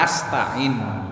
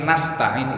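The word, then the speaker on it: نستعين: Bukan bacanya wa iyyaka asta'in, tapi nasta'in itu dapat nunnya dari kata nahnu. Nahnu itu artinya kami.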